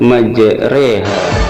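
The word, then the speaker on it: مجراها: Di dalam Al-Quran hanya ada pada satu tempat, yaitu majreha pada surat Hud ayat 41. Cara membacanya adalah huruf ro harus dibaca miring re seperti kata sate, sehingga kita bacanya majreha.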